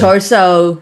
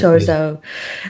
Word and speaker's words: Chorzów: And Bucharest and Chorzów, I think it's pronounced in Poland. in Poland, yeah. Chorso, how Lars Warsaw. calls it. Yeah, yeah, Chorso.